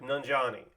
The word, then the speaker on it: Nanjiani: Camille um what's up how do I say your last name because I'm going to introduce you in in like 20 minutes it was like nanjani okay great got it